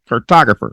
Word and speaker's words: cartographer: to people they're like it's pronounced cartographer I'm like oh oh they're like you know like photographer I'm like oh okay